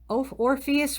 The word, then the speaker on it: Orpheus: a musician and poet orpheus rhymes with glorious one of the argonauts